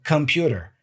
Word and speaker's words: computer: K it's come k sound uh C so computer computer and dangerous for many years I said